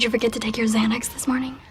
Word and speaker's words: Xanax: forget to take your Xanax this morning Xanax the X at the beginning of Xanax is pronounced as a zed sound the second X is pronounced as the a KS sounds let's listen did you